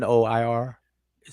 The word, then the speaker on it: noir: Oh, The noir, French R is not the same as the English R. So it's like noir.